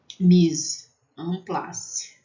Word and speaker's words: mise en place: Então, mise en place. Né? E vai ter som de AN. Mise en place.